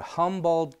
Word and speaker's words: Humboldt: in a place called Humboldt County is that how you pronounce it sort of like the squid Humboldt squid and we